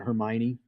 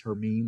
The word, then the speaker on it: Hermine: the list uh h-e-r-m-i-n-e it's not Hermione or whatever they say in the thing but it is her meme there's actually a pronunciation